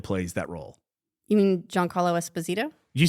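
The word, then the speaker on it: Giancarlo Esposito: fine what's your name and where you from joh Carlo Esposito from Italia on D John Carlo esposo John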